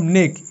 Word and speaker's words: know: সো KN এর উচ্চারণ হবে ন। যেমন নো, KNOW, নো। কে এখানে সাইলেন্ট, কারণ KN হচ্ছে একটা ডায়াগ্রাফ, এখানে এন সাইলেন্ট থাকে, এখানে কে সাইলেন্ট থাকে, জাস্ট এন এর হিসেবে ন উচ্চারণ হয়, ওকে।